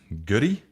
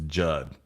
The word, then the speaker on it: Goody: Oh, it's pronounced Goody. Oh, Terry Goody. Oh, okay, man. This whole time I was thinking it was Judd.